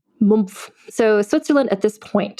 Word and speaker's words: Mumpf: She was born on the road, basically literally in Switzerland, in the Swiss town of Mumpf, which is spelled Mumpf. Spelled like it sounds. Mumpf.